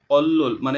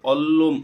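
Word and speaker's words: 원룸: quarter খুসুকসা শ্রমিক quarter অল্ল মানে এখানে অল্লুম অল্লুম উচ্চারণ করবো কেন অল্লুম মানে যে নিয়ন বাচ্চি রিয়াল আসে এটা ল উচ্চারণ হয় এজন্য আমরা অল্লুম অল্লুম উচ্চারণ করেছি অল্লুম মানে হচ্ছে যে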